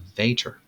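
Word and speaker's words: Vater: as the ampula of Vader note not that VOR this one is spelled v a t r the pancreatic sphincter of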